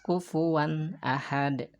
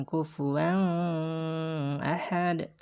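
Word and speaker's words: كُفُوًا أَحَدٌ: Hamzah Ahmad Hai maka dibacanya tanwin tersebut dibacanya idzhar jelas kufuwan Ahad kufuwan Ahad kufuwan Ahad ya Jadi bukan kufur wellhead atau misalkan sama atau harus dibaca kVA nahed kufuwan Ahad kufuwan one Ahed gitu ya tidak boleh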